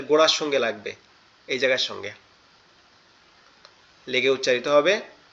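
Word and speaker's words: ث: নোক্তাওয়ালা যে অক্ষরটা আছে এটার নাম হচ্ছে সা। সা। এটা কোথা থেকে উচ্চারণ হবে? আমাদের এই জিহ্বার আগা, এই জায়গাটা আমাদের এই সামনের এই দুই দাঁত, এটার আগার সঙ্গে লাগবে, তা হচ্ছে গোড়ার সঙ্গে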